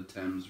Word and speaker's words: Thames: they boarded a ship and sailed down to thames river yes that's how you pronounce it before they reached the open sea